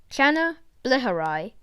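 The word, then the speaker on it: Channa bleheri: nails the rainbow snakehead scientific name shanna bleherai pronunciation chana bleherai size around 15 centimeters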